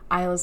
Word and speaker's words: Isla: I was like so 100% sure in the first video talking about Lightlark that I was pronouncing Isla's name correctly. I don't know where I got the pronunciation that I got. Like, I thought it was correct, but it's Isla.